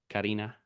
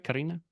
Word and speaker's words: Karine: What's up, Karina? Am I saying that right? Karina? It's actually Karin, but I put the I at the end so people know how to say it right because they always messed up my name.